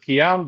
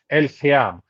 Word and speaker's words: El Khiam: You pronounce it Khiam, the Arabic pronunciation pronunciation is El Khiam.